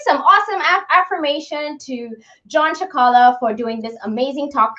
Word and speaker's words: Cicala: while, and he has never told me his name is pronounced Cicala, and so I've always just known him as Dr.